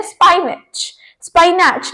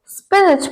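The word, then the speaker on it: spinach: लोग गलत बोलते हैं उसे बोलते हैं स्पाइनच लेकिन इसे इंग्लिश में वैसे स्पिच बोलते हैं स्पिच ठीक है हरी गोभी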